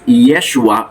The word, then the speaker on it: Yeshua: sa kanyang orihinal na wika Ito po ay binibigkas na Yeshua or yehoshua na ang ibig sabihin yung salitang